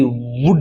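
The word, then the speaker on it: would: यह क्या भी कुड क्या कुड इसमें एल साइलेंट है कुड है डब्लू ओ यू एल डी वुड है ये वुड नहीं है वुड है एस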